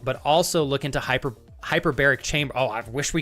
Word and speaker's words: hyperbaric: You can do a hyperbolic hyperbol I always say it wrong. Hyperbolic, right? Is it hyperbolic? Yeah, hyperbaric. There we go.